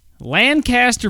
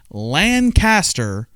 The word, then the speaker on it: Lancaster: All right, here we go, and it's going to be Lancaster Brewing Company.